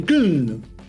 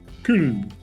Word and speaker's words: Köln: Él no nació en Düsseldorf, donde terminaría, sino que nació en Köln, Colonia. Köln, según la pronunciación alemana, espero hacerlo bien.